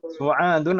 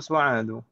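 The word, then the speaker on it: سعادُ: Tadi saya ini yang betul Aminatun atau Aminatu? Aminatu. Fatimatun atau Fatimatu? Fatimatu. Su'adun atau Su'adu? Su'adu. Limadha? Karena dia mamnu' min ash-sharif.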